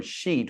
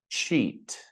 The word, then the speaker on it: cheat: This sound cheating cheat. Now we don't say cheating or sheet. We say ching cheat.